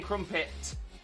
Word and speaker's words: crumpet: is that we whilst we don't say the t it's almost like we say a silent t so crump it crump it i'm not saying crumpet crumpet yeah it kind of because it stops sharp it kind of sounds like a silent t like crumpet from pin from pit so it's like it's almost like the tea is trying to be there crumpet from pet you've